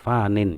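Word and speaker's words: فان: berada di atas bumi fan atau fanin ya sebenarnya itu fanin karena diwakafkan diberhentikan bacaannya jadi dibacanya adalah fan.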